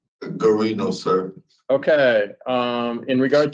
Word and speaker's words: Gino: so how do you say your first name Gino sir okay um in regards to Gino magor